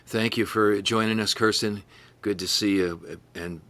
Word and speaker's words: Kirsten: It's actually Kirsten, not Kristen.